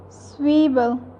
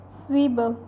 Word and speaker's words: Zwiebel: Ninth one is Zwiebel. Z gives the sounds of S in German language, that's why it is called Zwiebel.